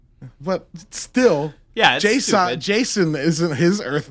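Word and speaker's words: J'son: and his dad is Jason, but it's spelled J apostrophe s because comics are the dumbest thing in the entire world.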